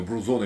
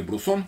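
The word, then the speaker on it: Bruzón: Не знаю, Брузон или Брусон, как правильно говорить. Я думаю, что скорее Брузон. Ну, в соответствии с транскрипцией такой изначальной пишем Брусон.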